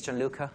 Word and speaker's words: Gianluca: now so name is John Lucca that's the Italian pronunciation it's a bit strange